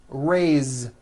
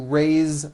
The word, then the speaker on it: raise: Raise, meaning like to raise my hand. Now this word is a bit unusual because even though it is spelled with an S, it's pronounced with a voiced Z.